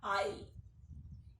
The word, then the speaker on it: aisle: The other children also stood up and started coming one by one down the aisle. A-I-S-L-E. The pronunciation is aisle. Please listen and remember.